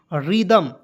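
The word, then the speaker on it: rhythm: को द लिख दीजिएगा एम को लिखिए म रिदम ठीक है अब मान लीजिए कहिए सर टी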